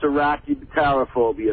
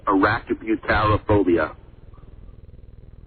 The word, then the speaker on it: arachibutyrophobia: No, I said I could pronounce Arachnophobia.